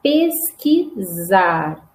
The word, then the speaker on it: pesquisar: Escreve com S. Mas olha a pronúncia. Zar. Então, pesquisar.